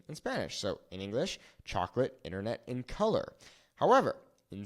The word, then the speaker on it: chocolate: If we take a look at the word chocolate, the natural pronunciation is going to fall on this A, okay? It's not chocolate. It's not chocolate. It's chocolate, okay?